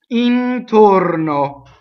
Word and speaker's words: intorno: Intorno. So every O in this word is closed. Note again the N going into the T.